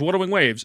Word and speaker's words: Wuthering Waves: He'll pronounce Wuthering Waves correctly one day. Yeah, it's Wuthering Waves.